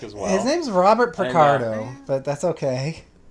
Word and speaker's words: Picardo: I'm not 100% that it's not Richard because I've been drinking, but his last name is Picardo, not Ricardo. Oh. Because that's okay. easy to remember because it's Picard.